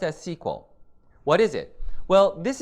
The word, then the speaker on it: SQL: Now, SQL stands for Structured Query Language, and it's pronounced as SQL.